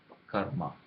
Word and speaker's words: karma: It's all pronounced together. It has the sound of ra, sound of ma. Ra comes first and ma comes next, and you pronounce them together, rma, karma. And similarly, sometimes you can